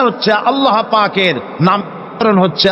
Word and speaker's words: আল্লাহ: আল্লাহ পাকের উচ্চারণটা হচ্ছে আল্লাহ পাকের নাম হচ্ছে আল্লাহ মুখটা একটু গোল হয়ে যাবে বলেন আল্লাহ আল্লাহ সুবহান